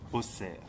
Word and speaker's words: Auxerre: oreilles indigènes et à bien prononcer au cerf comme cela s’écrivait au Moyen-Âge en souvenir de son nom gallo-romain doses la forteresse du chef authent les copistes ont pris une habitude d'abréger le double s par une croix laquelle a progressivement été prise pour un véritable X et prononcé en particulier à Paris comme dans les mots taxe luxe ou fixe l'ancien duché de Bourgogne